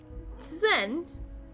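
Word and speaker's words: zehn: was the weird one it's almost exactly like 10 but with a z sound in there zen sen that sounds nothing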